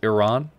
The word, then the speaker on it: Iran: It's not pronounced Iran, it's pronounced Iran.